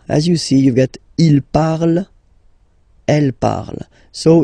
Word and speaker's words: il parle: And the last one, so even if you've got this ent, well, don't hate me, but you won't pronounce these letters, okay? You have to write them for the plural form, but you don't pronounce them, so you get il parle, elle parle.